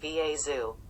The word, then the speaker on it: Vastu: she is greeted by a vastu the closest animal to a cat on planet droon pronounced va zoo he greeted her with